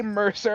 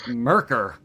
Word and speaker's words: Mercer: He's like, thank you, Merc, and I'm like, the C makes an S sound. He's like, okay, Mercer, and then Yeah, he finally got it. He said, okay, Mercer.